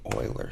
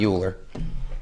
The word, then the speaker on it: Euler: I'll just say Lars and I'll just say Euler six it's pronounced oil or not Euler I learned that the hard way I see